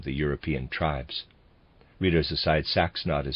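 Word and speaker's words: Saxnot: Europe meant when they spoke of their God sax not the symbol of the crucifix hovers over the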